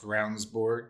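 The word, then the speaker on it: Ravnsborg: Pronounced Ravensborg.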